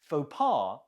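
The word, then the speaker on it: faux pas: five how do you say it faar faar fopa is a French word that we use in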